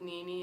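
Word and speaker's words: Nini: Also, I put, how do you read Nene as Nene? I also thought that. The person's like, Nene? How did they spell it? Because it's N-I-N-I. Yeah. I would get it if it was spelled N-I-N-A Yeah. on the sign-up sheet. But then it would not be pronounced Nene. No. It would be pronounced Nina. I don't really understand that.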